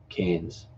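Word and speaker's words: Cairns: Brisbane and Kenny are you've written canes yeah it's spelled see a I are in s Cannes Brisbane and Cannes yeah but quite like ends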